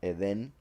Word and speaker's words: Eden: Eden is what is how is pronounced. Eden.